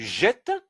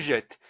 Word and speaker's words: jettes: Tu jettes. Et donc là, c'est obligatoire, c'est la conjugaison. Donc le S ici, on ne le prononce pas.